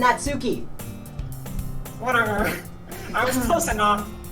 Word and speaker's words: Natsuki: And that Suki made cupcakes and everything. Yo, You gotta said it come to wrong. Secrets. You said it wrong. There's nobody here named Natsuki.